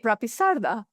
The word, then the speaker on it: Rapisarda: Uh Rapisarda. Oh, I can say Rapisarda.